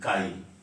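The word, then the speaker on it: χ: के डबल आई, काई। इलेक्ट्रोनिगेटिविटी को किससे रिप्रेजेंट करते हैं? के डबल आई से, काई जिसको बोलते हैं, डिनोटेड बाई, या प्रोनाउंस जो कह सकते हैं एज काई, इससे ऐसे दिया है के डबल आई।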